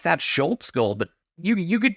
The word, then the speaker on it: Schultz: for goal of the week you have lucky Schultz that that's how you pronounce his name Schultz with a roller deep